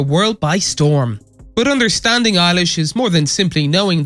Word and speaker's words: Eilish: by storm but understanding eilish is more than simply knowing that her middle name which he uses as a stage surname is pronounced like eyelash with alish this young